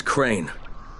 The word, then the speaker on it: Crane: No, my name's Crane. Crane? Crane rhymes with train, and brain, and sane, and grain, and rain, and plane, and the other kind of plane, and...